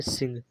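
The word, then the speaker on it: sing: एन के last N के just बाद जी होता। तो वहां क्या होता है? जैसे हमने समझा क्या? एस आई एन जी तो इसे हम बोलेंगे सिंग।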